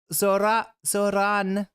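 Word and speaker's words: Zohran: I don't usually say burrito with a rolled R, but I say arroy with a rolled R. So Zoran. Something like that.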